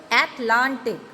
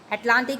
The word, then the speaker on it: Atlantic: Atlantic. Atlantic and Antarctic, this sounds somewhat the same, but it is not.